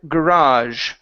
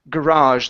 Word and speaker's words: garage: Next is the word garage right here. Garage. The stress is on the very end.